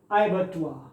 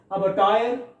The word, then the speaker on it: abattoir: जिसको ये नहीं पढ़ने आएगा, हो सकता है कि पढ़ दे अबटायर, क्योंकि ए है तो अ भी पढ़ सकता है, लेकिन यहां तो इसका उच्चारण क्या है, अय है, तो अयबटुआ। आप आधा र है जो न के बराबर है, ना के बराबर है, अयबटुआ, इस तरीके से।